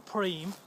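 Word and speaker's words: Prüm: There's a place we go which I think is pronounced Prum or Preem, which is just over the Belgian border.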